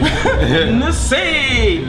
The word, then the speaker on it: Nze: Nollywood also has talented actors, and I'm here with one, and his name is Stan Nze. Yep. Is that a good pronunciation? Yeah, I'm sure that you got that right, actually. Nze.